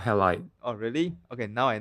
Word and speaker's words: Halide: The second app is an iOS app called Halide. Yeah. It's called Halide. Oh, really? Okay, now I know how Yeah. to pronounce it.